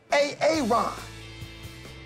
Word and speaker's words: Aaron: Now, A-A-Ron, where are you? Where is A-A-Ron right now? No A-A-Ron, huh? Well, you better be sick, dead, or mute, A-A-Ron.